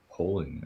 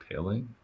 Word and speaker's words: Paling: I thought it's polling. It's Paling. It's Paling. At least that's that's the way they pronounce it.